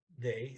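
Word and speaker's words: det: how you say five they that d-e-t t is silent blair that's that's all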